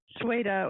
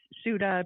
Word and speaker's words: Ceuta: So, let's talk a little bit about Morocco, Spain, and uh Sweida or it's Ceuta. People have pronounced it different ways.